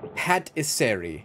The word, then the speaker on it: patisserie: have a drink stand it's pronounced patisseri is it patisseri what the hell is